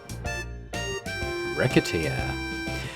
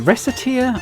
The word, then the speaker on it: Recettear: I I I pronounce it with the hard C. I I could be wrong on that, but that's how I've always said it. Rateer because it sounds like rakateeer.